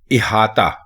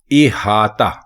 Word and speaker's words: احاطہ: اس کو الف کے نیچے زیر لگا کر لکھنا اور بولنا ہے احاطہ. احاطہ.